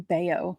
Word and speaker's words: Bello: It's Brian Bayo, like Scott Baio.